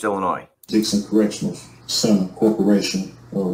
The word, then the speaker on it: Illinois: incarcerated by the way the state is pronounced Illinois Dixon Correctional Center Corporation